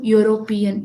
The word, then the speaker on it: European: we'll write a ha because European is pronounced as European, yo. So it is sounding like yo consonant letter.